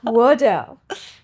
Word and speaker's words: Waddell: Miss Waddell, tell me a little bit. Did I pronounce that right? You did. Oh, thank You didn't God. say Waddle, so thank you.